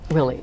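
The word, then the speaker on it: Willey: We had lots of fun with the sisters in Willie, Iowa. Was this? Willie. It's a town of about 200 some people. I don't understand Willie. Spell it. W-I-L-L-E-Y. Exactly. Willie.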